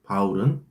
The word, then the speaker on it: 바울: 여기서 사울은 히브리식 발음이고 바울은 헬라식 발음입니다. 사울과 바울은 즉 동일인물이에요.